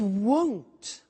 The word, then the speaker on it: won't: It won't be sunny is the negative. Won't, remember the difference between will not, won't, and want, won't, want.